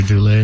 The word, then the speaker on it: doula: It's a doula.